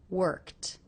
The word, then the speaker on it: worked: tea sound that's because the sound before the K is unvoiced so this ending will also be unvoiced worked worked and I went